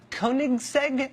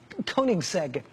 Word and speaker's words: Koenigsegg: the world including some Swedish thing called the Koenigsegg I think that's how you say it k-o-e-n-i-g-s-e-g Koenigsegg he had one that was one of only